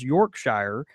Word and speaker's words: Yorkshire: lived in the Shire however if one calls York Shire his or her home is pronounced Yorkshire and he says that why oh